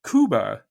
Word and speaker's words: Cuba: original inhabitants now extinct is pronounced Kuba by the Islanders and this is not